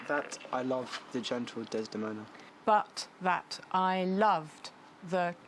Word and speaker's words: Desdemona: love for Desdemona and even the word Desdemona has lots of syllables how many there's the moon four most of our names have two syllables or one four is very unusual he can't it's like